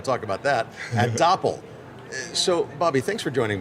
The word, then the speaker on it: Doppel: Which is funny because some people will mispronounce it without catching the whole Doppel like dopel or something or That's it.